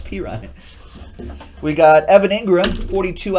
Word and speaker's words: Perine: It's Perine.